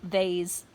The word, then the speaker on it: vase: But we are overflowing this vase, or vase as Americans say.